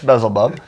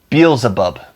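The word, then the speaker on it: Beelzebub: laughing bezel buub oh I think I pronounced it wrong be abub be abub I put the L in the wrong place you know what [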